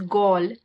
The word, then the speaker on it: Galle: And when we got there, we realized that this place, which is called Galle, it's spelled Galle. I think they pronounce it as Galle, but we didn't know